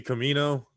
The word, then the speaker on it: Camino: Camino, that's kind of weird, like from Breaking Bad, and then Camino kind of rhymes with El Camino, El Camino, yeah, absolutely.